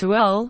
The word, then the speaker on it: Ooal: Before that, Ul is pronounced Ul, right?